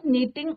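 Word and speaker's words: knitting: टी आई एन जी, के आपका silent रहता है और हम क्या प्रोनाउंसिएशन इज योर नीटिंग।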